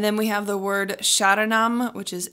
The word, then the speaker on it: sharanam: we have the word sharanam which is s-h-a-r-a-n-a-m sharanam um the r almost sounds like a D sound but don't worry about